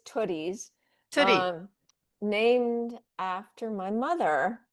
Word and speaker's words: Tootie's: Did I pronounce it correctly? Yeah, I mean, we'll respond to basically anything. We get Tootsies and we get Tooties, but it's Tooties.